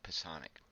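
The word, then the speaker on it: psionic: kisana CLE gifted individuals i don't know if you guys know that's how you pronounce the word its poisson --ax psi o ni c Poisson ik they sway enemy soldiers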